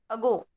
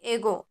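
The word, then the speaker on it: ago: है अ है ना इसको किस तरह से प्रोनाउंस किया जाता है अगो ना कि एगो है ना अगो तो इसके लिए आपको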